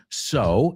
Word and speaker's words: sew: The second one, sew, S-E-W, pero apunta la pronunciación, es S-O. Es como decir, sew, you like to sew?